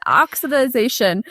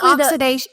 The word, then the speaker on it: oxidation: Oxidization. Basically, oxidation. Is it oxidation? Oxidation. There it is. I'm trying to add another syllable.